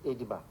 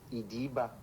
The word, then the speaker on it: Ediba: The community, the name is not Eda. It is pronounced Ida.